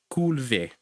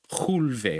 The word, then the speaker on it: Culve: Culve. Or chulve, I should say. Because at the beginning, if you see it, that C, it's being pronounced ch.